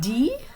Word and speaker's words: dit: Notice that dit, okay, this is says. The T is silent at the end.